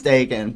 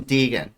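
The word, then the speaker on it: Daegan: So people would always call him Deegan, which I didn't even fucking stand. I gotta put the fucking in the middle of understand. I had no fucking clue how that worked. D-A-E is pronounced day.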